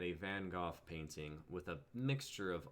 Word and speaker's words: Van Gogh: the art i like mango i believe it's pronounced van gogh oh right remind me nima did you ever